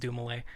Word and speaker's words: Dumile: Yeah, Dumile, pronounced Dumile.